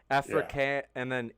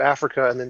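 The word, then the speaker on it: Afrikaans: mispronounce this did Africa it's spelled a-f-r-i-k so like Africa but with a K Africa and then a-a-n-s this must be is this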